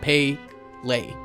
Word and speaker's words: Pelé: in attendance hilariously enough P's name was literally dictated as pay Le and an early draft